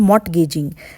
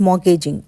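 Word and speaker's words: mortgaging: Behind me मॉर्गेजिंग friends, not मॉर्टगेजिंग, इट्स मॉर्गेजिंग, T silent है यहाँ पर।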